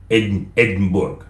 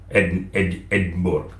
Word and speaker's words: Edinburgh: Mais la capitale d'Écosse, ce que nous appelons la capitale financière et administrative, c'est Edinburgh. Edinburgh. Donc, si vous pouvez le prononcer en français, c'est Edimbourg.